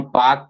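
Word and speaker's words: Palk: हिंदी में इसको हम पाक पढ़ते हैं। ठीक है? ऐसे लिखते हैं पाक है लेकिन स्पेलिंग पी ए लिखते पी एल के ये भी आपको ध्यान में रखना है कि भारत और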